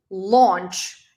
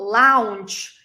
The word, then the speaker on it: launch: word number two launch it's not Lounge it's launch it's la O launch launch in American English the word I mean the sound is going to be like something between o and a but it's not La it's launch launch yeah we're launching a